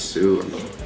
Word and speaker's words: Sioux: stick, but you know, people have a hard time pronouncing it and stuff. So like I think it fits, because then they have to ask you like what's the name, how you pronounce it and stuff, and they find out it's Sue.